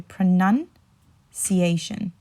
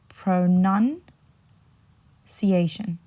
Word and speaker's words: pronunciation: you would say is remember there's a nun in the middle right so pronun ciation I'll say that again pronun ciation pronunciation so you want to